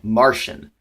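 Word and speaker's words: Marcion: a heretic this heretic is a man named Martian now it's pronounced Martian it's actually spelled ma our CIO N and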